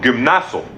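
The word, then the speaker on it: γυμνάζω: la palabra en griego es que se se pronuncia como gimnaso de donde viene la palabra que Diego más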